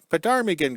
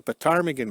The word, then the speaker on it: ptarmigan: So we've always called them the ptarmigan grills. And the P is silent or whatever when you say the word.